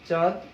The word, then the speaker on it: চাঁদ: যখন আমরা একটা শব্দ বলি চাঁদ, চাঁদ, তখন কিন্তু কি হয়, একটু চয়ের সাথে যে স্বরে আছে এটা একটু নাসিক্য হলো, কিন্তু চন্দ্রবিন্দু এই ধরনের কোনো কিন্তু উচ্চারণ আমরা পাই না।